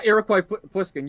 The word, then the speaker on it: Iroquois Pliskin: Yeah, Iroquois Pliskin. You nailed the pronunciation. That's exactly it.